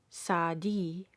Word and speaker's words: Saadi: or the name of the famous poet Saadi, pronounced Saadi.